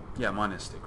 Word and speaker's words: monist: So we want to think about things from that monistic, right? You don't want to put another syllable in there because then it's like monks.